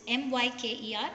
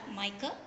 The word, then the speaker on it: MICR: This type of a device, it's called as mica, spelt as, if you pronounce it, it is MYKER, mica.